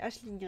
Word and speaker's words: Aisling: Je fais comme Daniel, j'alourdis vos piles à lire, achetez Aisling Ray. Oui, je sais, ça s'écrit Ailing, mais elle dit que ça se prononce Aisling, donc voilà.